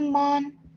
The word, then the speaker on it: mourn: A time to weep and a time to laugh, a time to mourn and a time to dance. Excellent. Yes, that's great. Honey, can you pronounce this one more time?